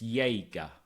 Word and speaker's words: Yéga: So it's like yay and gas. Why literally YAY hyphen GAH.